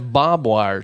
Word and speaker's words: barbwire: war war yeah but then there's Bob wire too which growing up that's literally what I called barbwire that's what I called it too Bob Wire yeah I didn't really even know how to spell it yeah there's an until I went to school and you're like wait what's the r in this bobar you telling me bobir is spelled b a r b w i r e that don't make no sense I just I just